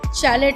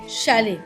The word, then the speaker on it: Chalet: দেন চ্যালেট house, যার actual উচ্চারণ শ্যালে।